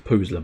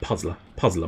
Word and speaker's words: Puzzler: It's not actually called the Poozler magazine. It's Puzzler magazine. I'm just putting stupid emphasis on the wrong things.